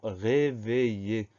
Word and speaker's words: réveiller: Donc, le son I s'obtient avec I-2-L. Avant ce son I, on a la lettre E qui permet de faire réveiller.